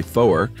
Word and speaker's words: four: Antiquated prefix 3 SRI four is two syllable syllables rhymes with lower so you would say four sounds kind of funny to differentiate it from you know for and uh five is fife to